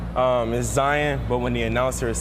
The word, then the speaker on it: Zion: with Zion Williamson oh my God is it Zion or Zion um is Zion but when the announcer is saying my name